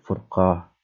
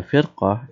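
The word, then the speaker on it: فرقة: Nah, keunikan bahasa Arab adalah di sini furqah. Kalau dibacanya firqah itu kelompok. Nah, di sini furqah. Oke, sekarang itu semacam jika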